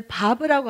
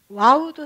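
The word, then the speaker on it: ו: 어떨 때는 와우로 읽히기도 합니다. 바브는 와우이기도 해요. 어떤 때 와우로 읽히냐면 글쎄 음가가 지금 이 바브가 옆에 이응 비읍 2개가 써 있죠. 어떤 때 이응이냐면 이게 단어의 맨 처음에 나올 때, 단어의 맨 앞에 나올 때는 바브를 와우로 읽어요.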